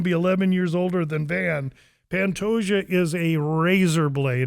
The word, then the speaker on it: Van: Then you got Alexandre Pantoja, Joshua Van in the co-main event here.